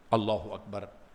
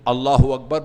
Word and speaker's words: اللہ اکبر: ہاں صحیح بتائیں کیا سب اس طرح تلفظ کرتے ہیں؟ الحمدللہ الحمدللہ الحمدللہ. کوئی پتہ نہیں چلتا، وہ بس وہ یہ حمزہ جو ہے وہ غائب ہو جاتا ہے.